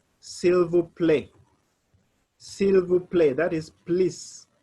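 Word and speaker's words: s'il vous plaît: a i t p p-l-a-i-t so you say silver play silver play and that is please simple play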